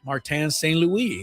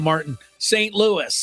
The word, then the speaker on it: Martin St. Louis: Martan St. Louis. It's spelled like St. Louis, but it obviously wasn't pronounced that way.